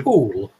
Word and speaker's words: Poole: It's Poole.